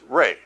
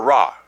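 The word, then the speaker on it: רעה: It is pronounced Ray, or Ra, I guess. It would be better, Ra.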